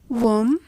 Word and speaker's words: womb: The B is a silent letter, and as such, the three words should be pronounced as womb, tomb, and bomb.